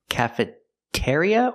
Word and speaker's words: cafeteria: in the cafeteria section cafeteria or cafeteria we use the second one ear ear like beer and here and near cafer cafeteria it's a stress syllable cafet ceria not cafeteria so when you go